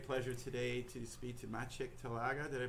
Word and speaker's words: Maciej Talaga: And I have the great pleasure today to speak to Maciej Talaga. Did I pronounce that all right?